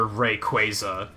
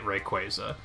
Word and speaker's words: Rayquaza: the yes this is another Rayquaza situation Rayquaza sounds stupid I'm not calling it Rayquaza it's Rayquaza whoa I'm willing